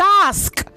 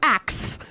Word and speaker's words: ask: Again, it is ask, not ax.